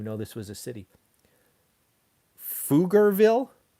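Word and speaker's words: Pflugerville: this was a city foogerville and it's spelled with a ph i've been to texas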